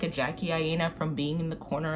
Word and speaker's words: Jackie Aina: I'll put little asterisks, but I meant to say Jackie Aina. My apologies. It's pronounced Jackie Aina.